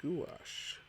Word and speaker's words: gouache: emphasis on it because when i checked the pronunciation it was a gouache it's uh that's a